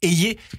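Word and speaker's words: Hayer: de votre championne Valérie a ou ayz je crois qu'on dit maintenant ayz c'est la vraie prononciation quel bilan vous tirez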